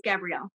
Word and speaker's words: Gabrielle: You're saying it right. It's Gabrielle.